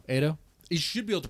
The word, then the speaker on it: Ado: stay on topic right Auto is it auto Ado it should be able